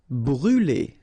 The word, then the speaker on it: brûler: Brûler. All right, so remember to write this circumflex on the top of U, but then you don't pronounce it, so phonetically it doesn't exist, and it's brûler.